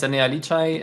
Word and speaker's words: Enea: for joining us um my name is anai I know my surname is a bit difficult to pronounce but just keep it an air um I come from